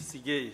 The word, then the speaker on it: Sigei: Kiprotich Sigei, sorry. Thank you, Mr. Speaker, and you have properly pronounced the name.